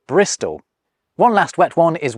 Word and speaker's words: Bristol: Thus, with a bit of laziness thrown in around the middle, you get from Bridgestow to Bristol. Although, I think locals kind of do pronounce it Bristow.